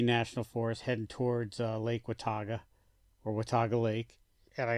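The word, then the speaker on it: Watauga: wogo Wago whatever Wago I'm just going to say Wataga Lake I'll spell it out for you it is spelled w a t a u GA I'm going to say Wataga my Ohio accent that seems about right but uh started in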